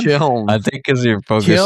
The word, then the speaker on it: Kiln: tell us how great Kern's going to be and that we were wrong about it. You said the name wrong every time. What is it? What is it again? Kiln.